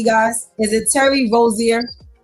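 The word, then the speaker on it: Terry Rozier: Am I pronouncing his name correctly, guys? Is it Terry Rosier?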